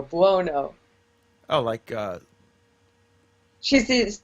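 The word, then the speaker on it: Buono: tell me you're joking her name is not barbara blonoe no b-u-o-n-o bono oh my god she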